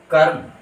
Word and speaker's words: कर्म: जैसे क जोड़ र हल जोड़ म, अर्थात क पूरा है, र आधा है, जोड़ म पूरा है। और इन अक्षरों को अगर यदि सम्मिलित रूप से रखा जाए तो इनका उच्चारण होगा कर्म।